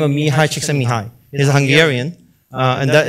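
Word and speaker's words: Csikszentmihalyi: by a renowned psychologist by the name of Mii CH Mii he's a Hungarian and that is the correct way to pronounce his name and so he basically uh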